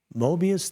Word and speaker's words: Mobius: And 7:30 p.m., live from the shallow end of the gene pool, it's Mobius Theater.